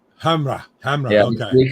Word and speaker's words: Hamre: I could never pronounce his name right. Yeah. Hamre. Hamra.